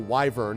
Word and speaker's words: wyvern: And a royal wyvern, or actually royal wyvern, as I've now learned you can pronounce it.